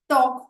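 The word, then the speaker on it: talk: उसी प्रकार से वॉक, अगर आप वॉक शब्द देखेंगे तो उसके स्पेलिंग में जो L है वो साइलेंट है। वॉक हुआ, टॉक हुआ, हाफ हुआ, हाफ में भी L साइलेंट है।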